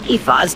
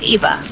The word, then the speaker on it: Aoife: you're here to meet Eva." Keep in mind that Aoife and Aoife are phonetically almost identical names.